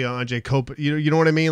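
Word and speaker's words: Anže Kopitar: They mispronounce every single player. Anye Kopati. Yeah, it's like no, it's actually Anje Kopati.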